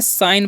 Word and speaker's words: sign: हम क्या पढ़ते हैं, साइन पढ़ते हैं। क्या पढ़ते हैं, साइन। इसे सीजन नहीं पढ़ना है, या साइजन या साइगन, ठीक है।